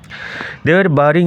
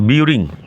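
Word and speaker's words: burying: সি তোমরা দেখতে পারো বারিং a large box under one অফ দা স্যান্ডিউনস অফ দা সির অন সিসোর বাই our village বারিং উচ্চারণ লক্ষ্য করো নট বিউরিং বারিং তারা পুত ছিল এ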